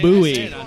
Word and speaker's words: Bowie: Sam Houston that is an incorrect fact it's pronounced Bowie that is it for history questions are done